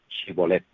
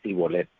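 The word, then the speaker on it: שיבולת: Si él decía que no, le decían: entonces di Shibolet. Pero ellos decían Sibolet, porque no podían pronunciarlo correctamente.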